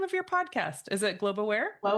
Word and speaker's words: Globe Aware: Spotify, all that with Globe Aware. A lot of people say global I think make it two syllables but it's just globe awar.